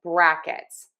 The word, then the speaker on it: brackets: And so, we are going to stress bra in brackets. Okay? So, we have two kinds of stress that you need to think about. You are going to think about the syllable stress. So, our syllable in word two that is stressed is the bra.